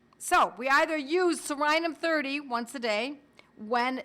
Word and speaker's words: Psorinum: One of them was Sorinum, spelled with a silent P, like pneumonia, you don't pronounce the P. Sorinum is P-S-O-R-I-N-U-M, Sorinum.